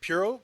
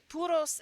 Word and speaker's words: Puros: We're going to start with Puros Music Podcast, right? Am I saying it right? Puro? People say puro. I think it's like, I say Puros and Music Podcast because I think the inflection